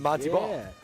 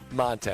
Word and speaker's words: Monte: time we called him Monty Ball. Yeah. And it took like a couple years where it's, you know, it's actually Monte. It's like Monte.